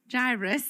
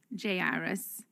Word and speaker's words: Jairus: i'm gonna start saying jairus that's how i'm going to call him i don't know how y'all pronounce his name jay iris jairus i don't know in the in the greek it's iris i don't know however